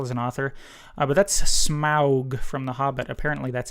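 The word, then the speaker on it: Smaug: artist as well as an author but that's smow from The Hobbit apparently that's how it's supposed to be pronounced as smow not smog uh so number one is SM uh number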